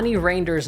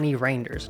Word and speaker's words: Reijnders: With Reijnders now landing at Milan, Yunus Musah reportedly the